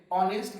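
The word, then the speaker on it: honest: तो एन क्यों आया यहाँ, तो एन इसलिए आया क्योंकि सबसे पहला लेटर हम देखेंगे ऑनेस्ट का एच साइलेंट है।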